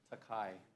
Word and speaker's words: Takai: say your name thank you thank you chairman takai takai thank you very much Mr chairman we're